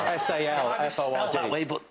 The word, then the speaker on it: Salford: Well, it's spelled S-A-L-F-O-R-D. That way, but it's said. Did you say salt? Salford. No, salt. Salt. There you go. OK, Jason has a media and performance degree from the University of Salford, and yet, despite that,